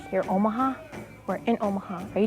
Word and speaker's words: Omaha: don't realize that Omaha is named after the Omaha tribe correct pronunciation is Omaha Omaha people against the current